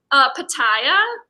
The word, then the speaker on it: pitaya: Wait, how do you pronounce that word? Pitaya.